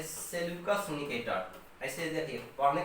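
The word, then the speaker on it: Seleucus: देखिए एक सेनापति जो है उसको हम लोग बोलते हैं क्या, एक सेनापति बोलते हैं सेल्यूकस निकेटर, ऐसे देखिए पढ़ने का तरीका है, एक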